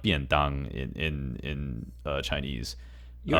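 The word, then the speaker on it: 便當: So I think one of the biggest examples, or probably one of the most common examples, is bento, which is pronounced biandang in Chinese.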